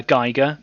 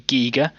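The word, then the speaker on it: Giger: i've always called him uh geiger but i've been told his name's actually giga so if i do call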